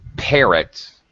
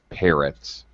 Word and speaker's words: parrots: All right, first of all, parrots, first syllable stress in English, parrots.